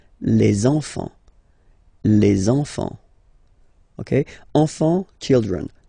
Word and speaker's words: enfants: Don't pronounce the T, you don't pronounce the S. Enfant, okay? And now we can focus on the liaison here. So you should make the little link. Les enfants.